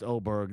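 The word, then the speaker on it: Åberg: See, Derek Phillips says it's also pronounced Auberge. There's no way I'm going to live in a world where I pronounce Aberg Oberg.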